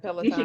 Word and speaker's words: Peloton: doing the Peloton? Is that how you say it? Yeah, you should Peloton.